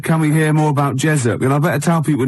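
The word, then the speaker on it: Jezoc: Um, who said, "Can we hear more about Jezuk?"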